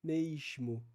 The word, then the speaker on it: mesmo: depois do E então Vai dizer mesmo Seria algo como mesmo e é isso que